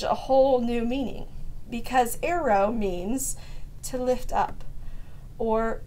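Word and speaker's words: αἴρω: away or cuts off is a word that's pronounced aero, and it's spelled A-I-R-O. And to me, this gives the passage a whole new meaning, because aero means to lift up or to take up.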